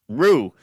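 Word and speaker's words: Roux: saying this wrong r-o-u-x how would i pronounce that dave rooks rocks roof roo is that in france rue so they're opening their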